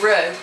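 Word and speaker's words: Roux: I've always liked Rue, but spelled like R-O-U-X. Rue? Like a kangaroo?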